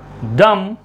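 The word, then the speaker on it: dumb: कौन से silent letters? B silent letters. So this is date, debtor, subtle, डाउट, lamb, लिम, डम, थम, climb, वुम।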